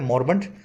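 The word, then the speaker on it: moribund: इसको मोरिबंड लिखा जाता है लेकिन बोला जाता है मॉर्बेंट। सही स्पेलिंग इसकी समझें, आई को प्रोनाउंस नहीं करते हैं, अ बोल देते हैं इसमें, मॉर्बेंट।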